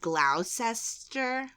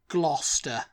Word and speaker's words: Gloucester: may gluc gluc gluca because it's just pronounced craz in Britain and that is you want to say it gluster gluster yeah gluster and where is Gloucester